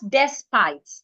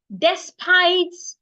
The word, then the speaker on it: despite: The next word I have is despite, not despite. So you hear people say despite all I did. No, it's despite all I did. Despite. Just like the word is state, you're you're stressing the second syllable. D, not the watch my mouth. D. The letter E there sounds I despite. It is not despite.